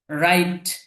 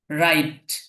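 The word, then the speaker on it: write: রাইট। রাইট লেখা। রাইট অর্থ লেখা। এখানে খেয়াল করবেন এটার বানানটা কিন্তু একরকম উচ্চারণটা আরেকরকম এখানে ডাবলিউ শুরুতে আছে কিন্তু উচ্চারণের ক্ষেত্রে ডবলিউ টা আসবে না শুধু রাইটটা হবে কিন্তু বানান যখন আপনি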